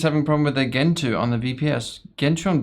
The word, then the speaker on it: Gentoo: So, someone is having a problem with their Gentoo on the VPS.